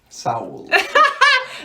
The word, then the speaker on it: Seoul: getting my hair done a girl from Korea was like it's all if they called so so it's like oh yeah we're just saying it wrong so I I sound like a white girl when I say it but we're going to Seoul uh but I think it's so I think it's Saul anyways I'm bucking it